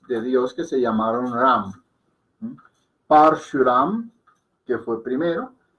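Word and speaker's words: राम: Entonces, aquí estoy escribiendo el nombre del señor Ram. ¿Okay? Ahí dice Ram, no Ram. Se puede pronunciar Ram, pero es más fonéticamente correcto llamarlo Ram.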